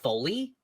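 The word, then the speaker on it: Folie: that right oh really full it's actually pronounced Foley Foley really yes oh totally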